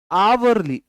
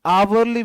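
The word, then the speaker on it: hourly: जब भी एच के बाद ओ आता है तो एच साइलेंट होता है।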